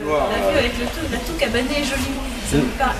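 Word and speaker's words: toue cabanée: La toux cabanée. Cabanée, comme une cabane.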